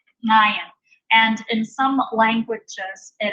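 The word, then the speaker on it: עין: It's pronounced by taking the back of your tongue and pressing it up against the back of your throat. So it's Ayin, Ayin.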